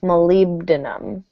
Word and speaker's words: molybdenum: we have something here stress would probably fall here molybdenum molybdenum be sure of that molybdenum want to give me there we go that's here molybdenum molybdenum okay so not a